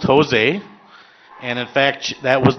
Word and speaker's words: Jose: He changed it to be pronounced Jose, and in fact, that was the name of his business corporation, J-O-S-E, Jose Incorporated.